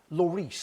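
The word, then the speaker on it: Lloris: uh outright now you mentioned uh lorice lovely pronunciation I always plump for Loris Loris but Loris or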